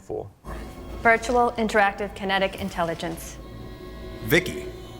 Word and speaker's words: VIKI: Vicky. How cool was that? And you are right, it is actually pronounced Vicky, so there you go.